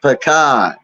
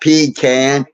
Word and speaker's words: pecan: a lot of ways no it's not it's pan not P can it's pan come on r you living down